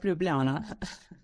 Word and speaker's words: Ljubljana: thank you for having me how do you pronounce the University's name properly sorry uh it's the University of Ljubljana okay all right yeah yeah no problem well